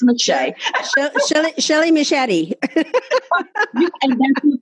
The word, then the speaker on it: Meche'tte: Meshay is spelled Mechette. I know. Everybody's like, Meshay. Yes, it's Meshay.